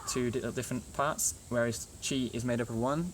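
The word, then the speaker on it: ち: two different parts, whereas chi is made up of one, but actually when it's printed, sometimes that's joined up the same. Anyway, so ta, instead of ti, it's chi, right?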